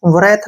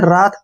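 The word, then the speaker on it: wrath: वरैथ नहीं पढ़ना है, रात पढ़ना है।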